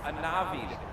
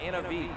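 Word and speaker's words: Anavi: way just real quick my name is pronounced a navi not innovate so if i'm gonna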